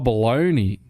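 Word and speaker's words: bologna: Bob storm said belonger B belonger oh baloney why is it spelled like that I just didn't know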